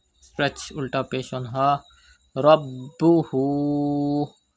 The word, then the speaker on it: ربه: Rabbuhu. Pronounce ba with emphasis because ba is a qalqala letter and it is mushaddad in this word, and there is hamza after ulta pesh.